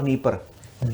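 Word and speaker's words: Dnieper: नीस्ट और नी परर देखिए नीर आपके एटलस अगर इंग्लिश वाला एटलस तो डी से स्पेलिंग शुरू हो रही होगी शायद उसकी नीर और नी परर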